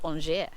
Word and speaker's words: Angers: It's spelt Angers in English, but it's pronounced Angers.